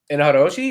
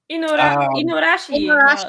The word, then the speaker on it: Inuarashi: Inaharoshi, is that how you say his name? The dog? The dog? The dog dude. Inuarashi.